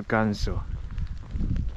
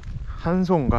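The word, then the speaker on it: Ganso: 엘 간소. 한소인가 한소? 아, 제이가 히읗 발음이지. 추워.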